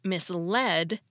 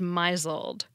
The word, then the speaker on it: misled: It's a pronunciation of a word based on its spelling. It gets its name from the past tense of the verb mislead. The word misled can be misread as misled.